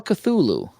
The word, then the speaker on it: Cthulhu: the Xbox one yeah Oh buddy call a Cthulhu that's how you pronounce it yeah it's called a Cthulhu 2 HP Lovecraft story and it's a it's